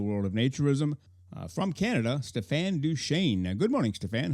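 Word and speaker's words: Stéphane Deschênes: of naturism from Canada Stefan duain good morning Stefan how are you today did I do okay on the semi French pronunciation of your name you did very well yes very well thank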